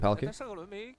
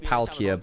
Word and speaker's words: Palkia: But yes, Palkia, for like licensing reasons, isn't called Palkia, but that's his name, folks. He's just spelt it out in the katakana, effectively, like Japanese pronunciation.